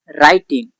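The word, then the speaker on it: writing: मैं once Tenali was राइटिंग something on a paper. Something का मतलब कुछ होता है। राइटिंग राइटिंग का मतलब होता है लिखना। इसमें डब्ल्यू साइलेंट है।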